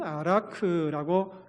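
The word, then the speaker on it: ערך: 원어 성경에 보면은 아라크라고 읽습니다. 히브리어로 아라크라고 읽는데 우리 같이 한번 방언을 읽어보겠습니다.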